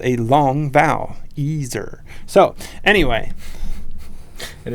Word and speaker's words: Eser: It's ESER, which is Ezer, which actually is a derivative from Ezer in the Bible, which means helper. Right. But people try to add another S and make it Esser all the time.